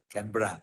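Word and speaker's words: Canberra: T but my Australian friends uh said they pronounce tbra canra so this is two different cities and we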